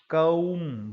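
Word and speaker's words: calm: भी बी आए ना तो वो ब बोला नहीं जाता उसको बहुत सारे शब्दों में होता है ऐसा तो इस शब्द को बोला जाएगा कौम कौम कौम ब नहीं बोला जाएगा इसमें से ब साइलेंट है बड़ा कॉमन शब्द है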